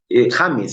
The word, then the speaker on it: James: presidente esta semana Felipe James James en realidad como el futbolista es como se pronuncia es el nuevo presidente